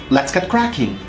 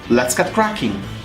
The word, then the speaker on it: let's get cracking: as possible let's go however when I pronounce gap cracking I need to pause just a little bit since connecting T and C is not possible t and c are